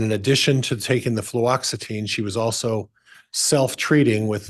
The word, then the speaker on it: fluoxetine: Were you aware that she was taking fluoxetine? I have difficulty with that as well. Fluoxetine.